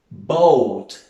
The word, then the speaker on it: boat: Boat, barco, boat, la A no la pronunciamos.